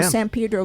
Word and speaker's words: San Pedro: I know San Pedro very well. And you pronounce it correctly as well. Yes, that's right. Not Pedro, Pedro.